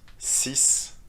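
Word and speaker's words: six: noun after the number for example si bom do you hear the sound of the number sipam no so the third sound disappears if you add a noun after it how do you think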